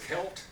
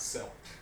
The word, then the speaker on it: Celt: Boston basketball team Americans the word is kilt not sell see ELT is pronounced Celt okay so merkins don't